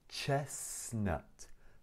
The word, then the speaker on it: chestnut: Chestnut. Chestnut. لا ننطق أول T.